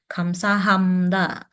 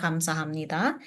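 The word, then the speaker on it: 감사합니다: itu biasa mereka sebutnya kams Hamda kams Hamda Nah itu sama seperti itu tapi untuk pelafalan benarnya itu sebenarnya seperti itu yang kamsahamita tapi kadang kita dengarnya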